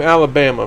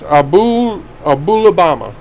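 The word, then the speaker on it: Aholibamah: I want to pronounce her name Alabama. When you look at her name, it's just the way I want to pronounce it, but it's Abulabama.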